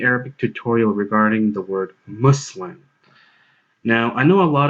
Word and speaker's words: Muslim: And trust me, this Arabic word Muslim is easy to pronounce correctly because the sound required to pronounce the word Muslim as Muslim actually exists in English.